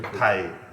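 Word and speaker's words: thầy: Thai.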